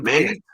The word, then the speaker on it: GLEAT: I don't know how you say it, so I'll just say GLEAT. Yeah, but it's like R's are L's and L's are R's. So yeah, so like great.